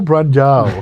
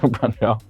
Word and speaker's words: Brandão: I really love how How do you say Rafael? Rafael Brandão. Brandão. That's jiu-jitsu-ese.